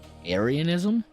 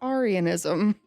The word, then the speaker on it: Arianism: Aryanism. I'm choosing to pronounce it Arianism, named after a man named Arius.